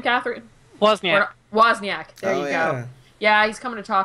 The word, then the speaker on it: Wozniak: How do you pronounce his last name, Catherine? Wozniak.